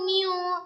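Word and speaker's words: μ: Apa itu mu? Nah, di sini saya tuliskan. Ini cara bacanya mu ya.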